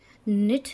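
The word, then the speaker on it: knit: ये हमारा ऑनर है, इसमें एच साइलेंट है। ये हमारा निट है, ये हमारा रॉन्ग है, ये हमारा हेयर है और ये जो है हमारा वो रिंकल है।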